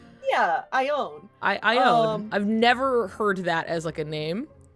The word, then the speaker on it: Ione: I have an OC named Ione. Oh, Canary. Hey, learn something new every day. Yeah. How were you pronouncing it like I own, is it knee or like nay? I own knee.